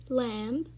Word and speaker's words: lamb: first word we have is lamb and you can you pronounce it as l-a-m and not l-a-m-b because the b is silent and the second word